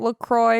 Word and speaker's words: LaCroix: Some people say LaCroix, but it says on their website LaCroix rhymes with enjoy.